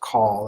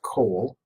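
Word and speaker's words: כֹּל: here is, and kol, it's not pronounced call, it's pronounced kol, which means all or the whole.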